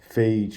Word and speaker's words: phage: virus called bacteriophage lambda, phage for short, pronounced like cage.